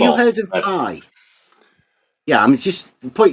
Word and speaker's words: pi: ratio no we um I say it the Greek way it's p this circumference over the you're just mispronouncing it people taught you to mispronounce the letter P it's not pie pies we eat circles